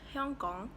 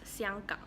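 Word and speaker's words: 香港: So in Hong Kong, people speak Cantonese, which is a dialect of Mandarin Chinese, and it's pronounced as Hyong Gong. And in Mandarin Chinese, it's Xiang Gang.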